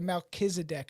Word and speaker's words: Melchizedek: They more like human looking, or like because you've had obviously contact with the Melchizedek.